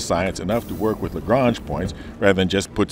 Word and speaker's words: Lagrange: points and they are named after a french italian astronomer so the intent is obviously that they are pronounced lagrange points but that may not